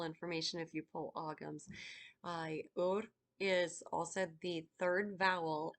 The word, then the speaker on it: Ura: So this one is Heather or Ura, URA, pronounced Ur.